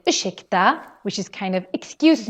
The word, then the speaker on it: ursäkta: And just like we mentioned with the word varsågod, ursäkta also has this sh sound because we have an RS put together. So important that you pronounce this as ursäkta and not ursäkta.